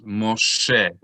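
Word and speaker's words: משה: Mem plus cholam is mo plus shin. Mosh plus segol is Moshe. Everyone say Moshe. Moshe.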